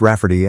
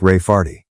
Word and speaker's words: Rafferty: to name my niece Rafferty, pronounced Rafferty and not at all like Ray Farty.